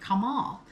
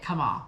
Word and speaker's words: Kemal: As the circumflex accent on the final softens the E, the pronunciation closely approximates that of the Arabic Kemal.